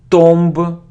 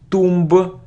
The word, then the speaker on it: tomb: Reiner Reiner it isn't Tom it isn't Tomba its tomb - so we don't pronounce be and it's Alan son